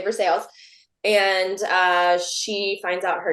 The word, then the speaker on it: Versailles: She's from this town in Kentucky, Versailles, even though it's spelled Versailles. It's a real town, and we really say Versailles.